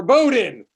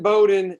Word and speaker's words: Bowdoin: a word other than bowdoin that has a silent o right in there i will say like before i went to bowdoin like bo doing about